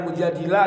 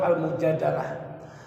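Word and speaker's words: المجادلة: Ada yang mengatakan mujadilah, ada yang mengatakan mujadalah. Ya, jadi bacanya macam-macam. Tapi yang lebih kuat almujadalah.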